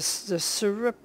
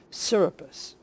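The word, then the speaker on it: Serapis: i captured the spear the syrup i'm saying it wrong syrupus okay so the surprise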